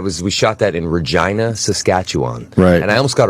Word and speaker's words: Regina: And I wrote I made this big sign that said, "Welcome to Regina." which rhymes with fun.